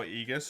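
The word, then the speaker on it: aegis: game which triy requested why can no one agree on how egus is said it's either agus or egus it's a pronunciation thing B that one it's like tomato tomato agus egus what does egus even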